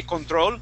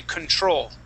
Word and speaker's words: control: Now, this word, okay, it's exactly like how you would pronounce it in Spanish, with the accent, that is, okay? So we wouldn't say control, but the accent is the same. We say control. The accent goes at the very end.